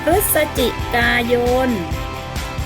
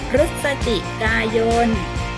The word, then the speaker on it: พฤศจิกายน: ชื่อ เดือน ลำดับ ที่ 5 ของ ซี พฤศจิกายน พฤศจิกายน หมาย ถึง ชื่อ เดือน ใน ลำดับ ที่ 11